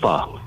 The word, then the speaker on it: Pho: I always go to Pho PHO. You. Oh, pho. Pho? Pho. Cat. It's pronounced pho, yeah.